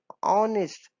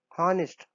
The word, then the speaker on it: honest: यहाँ पे जब हम स्पीक कर रहे हैं प्रोनाउंस निकल रहा है तो आ से निकल रहा है एन ऑनेस्ट ना कि हॉनेस्ट हॉनेस्ट तो होता नहीं ऑनेस्ट होता है.